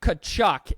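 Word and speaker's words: Tkachuk: overtime playoff overtime game Matthew kachuk and I did look it up and that is how you say it finished off a second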